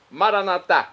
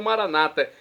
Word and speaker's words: maranatá: Agora vamos ao dialeto de Jesus, o aramaico, maranatá, como dizemos nós católicos, ou maranata, como dizem nossos irmãos separados, os evangélicos ou protestantes. Não importa a pronúncia, o significado é o mesmo.